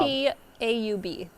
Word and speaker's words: Staub: Is it Max Stab or is it Max Staub? S-T-A-U-B. A-U-B, Staub.